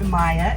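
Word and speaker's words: maiʻa: It's pronounced Maya in Hawaiian.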